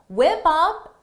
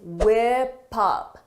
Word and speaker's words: whip up: 20 to whip up whip up is a phrasal verb for the pronunciation notice is whip up whip up whip up because of linking whip up whip up